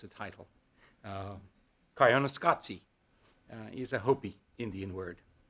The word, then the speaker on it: Koyaanisqatsi: And even the paper doesn't tell you how to pronounce the title. Koyaanisqatsi is a Hopi Indian word.